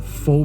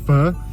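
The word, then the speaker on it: phở: Donc ça s'écrit PH. Prononce pas faux mais bien feu.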